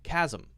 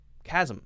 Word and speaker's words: chasm: a SM chasm zom Kasim Kasim some--some it's very quick and we want to go from the zoo to the mmm this is a closed